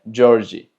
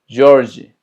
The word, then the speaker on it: Jorge: Se pronuncia Jorge. Jorge.